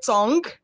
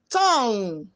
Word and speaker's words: tongue: you pronounce c-o-n-g-u-e did i hear you say tong no the correct pronunciation is tong let us n-g-u-e are pronounced with sound on